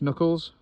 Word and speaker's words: Knuckles: yeah um it does it starts with a silent k ick knuckles what colors Knuckles you don't really say the K it's a silent letter I can't really hear it no it's just it